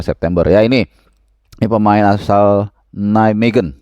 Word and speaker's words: Nijmegen: Ya, ini pemain asal Nijmegen, bacanya begitu ya.